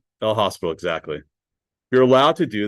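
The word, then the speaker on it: L'Hôpital: So this is called and some people kind of call it le hospital but it's French. The s is silent less. So it's your hospital. El hospital.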